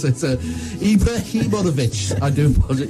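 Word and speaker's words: Ibrahimović: I know they've got Abramovich, but But Sweden, Roman I can't pronounce it. Ibrahimovic, I do apologize. Ibrahimovic.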